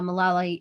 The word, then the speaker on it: Malala: women i think mala i always say her name malala no uh malala uh she's on it